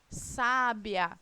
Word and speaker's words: sábia: É o caso de sábia, né? Quem é a sílaba tônica de sábia? O sá.